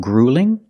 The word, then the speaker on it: grueling: Is running a marathon grueling? That's right. Running a marathon is grueling. Also notice with the UEL, we don't say UL It's not grueling, it's grueling. Use the long oo plus the light L.